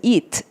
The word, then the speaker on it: eat: 이렇게 발음하고 먹다라는 is은 eat 이렇게 발음해야 되는데 구분되세요? 자, it 하고 eat. 자, eat 먹다예요. 그것이에요. eat 이게 이렇게 치즈 발음을 하듯이 하면 ea를 발음한 거고 뱉듯이 발음을 하면 it를 발음한 거라고요.